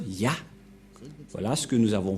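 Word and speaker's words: יה: Cette forme se prononce Ya, que vous venons de lire. Voilà. Et puisque nous avons déjà vu cette forme, Yod, He, qu'on prononce Ya.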